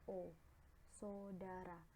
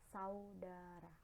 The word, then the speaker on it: saudara: sapaan pada kata saudara dalam pengucapan memang alih-alih menjadi Bunyi so so Dara padahal dalam penulisan atau pelafalan yang tepat adalah saudara hai hai